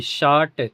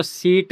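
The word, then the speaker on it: shirt: निकल रहा है अ एस एच आई आर टी शर्ट तो यहां पे आई के बाद आर आ गया ना तो इसको शीट मत बोल देना शर्ट तो किसी भी वर्ड में आई के बाद अगर आर आता है तो वहां पे आ का आई का उच्चारण अ निकलेगा।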